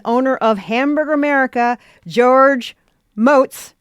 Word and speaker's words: Motz: I am talking to chef, author, and owner of Hamburger America, George Motz. Rhymes with goats.